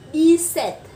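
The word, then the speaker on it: dix-sept: Thì khi mà chúng ta nối sang đây chúng ta sẽ là D-set. Và cái âm P này vẫn là âm P câm, do đó chúng ta sẽ đọc là D-set.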